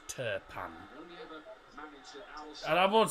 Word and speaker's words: Turpin: Turkish pans now Clement terpan t-u-r-p-i-n that's the that's how you spell his name but because he's from France the I the letter i is pronounced of an e so it's turpan and I won't say